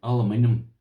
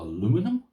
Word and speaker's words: aluminium: This here is a aluminium. Well, the Americans, they pronounce it all wrong. They call it aluminum. Don't know why they call it the wrong way, the wrong name for it, but anyway, that's their business.